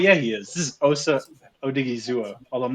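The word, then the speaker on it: Osa Odighizuwa: This is Osa Odigizua. Although I'm not sure if that's the right pronation. No, you nailed the pronunciation.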